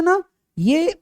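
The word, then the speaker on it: ν: represented by य न्यू इसको न्यू पढ़ते हैं इसका उच्चारण क्या करें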